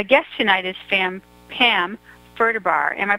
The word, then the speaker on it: Ferderbar: fun show my guest tonight is fam Pam Berta bar am i pronouncing it right bar you are you wouldn't cries for that I